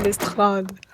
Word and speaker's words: Lestrade: Thanks, Lestrade. Non, il s'appelle Lestrade. Parce que... Voilà, il le prononce à la française.